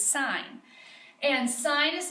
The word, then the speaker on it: sine: on your calculator is SI n it's not sin its sine and sine is spelled